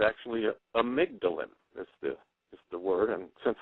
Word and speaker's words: amygdalin: And it was this stuff called Laetril, and it's actually amygdalin. Is the word, and since we're on radio, I'll spell it. It's AMYGDALIN, amygdalin.